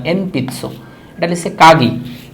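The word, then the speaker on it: えんぴつ: এনপিৎসো এটাও বলার সময় বলে এমপিৎসো, মর মতো উচ্চারণ হয় এমপিৎসো, বাট লেখার সময় ন লিখতে হয় এনপিৎসো।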